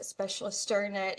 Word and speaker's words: Specialisterne: why our company name specialist sternut is pronounced a little bit funny because it's actually a Danish word and it's the Danish